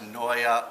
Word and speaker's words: Naeye: you want to know it's a Flemish and uh it's pronounced Noya like paranoia want some a mic